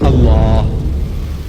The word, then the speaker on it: Allah: If it's A-L-A-H, is Allah. You say Allah. I said, look, say Allah.